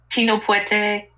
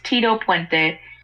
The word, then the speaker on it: Tito Puente: Yes, I mispronounced his name accidentally. It's Tito Puente.